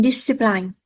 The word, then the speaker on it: discipline: and discipline. Yes, but we need to pronounce it this way. Discipline. So, it's a soft I each time.